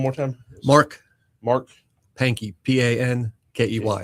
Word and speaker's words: Pankey: Pankey. Like hanky panky.